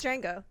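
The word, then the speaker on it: Django: wal Jamie Fox no the D is silent it really is it's Dango um Quinton Tarantino this film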